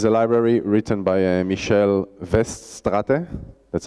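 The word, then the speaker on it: Michel Weststrate: mo bik's is a library written by a michele vest Stata that's how you pronounce his name from mendax he was actually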